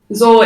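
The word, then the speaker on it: Zaure: is healed z-a-u-r-e um i previously mistook this name that i made up myself and pronounced it as ball once and i was like why just what and then i realized it wasn't a b hey this is zed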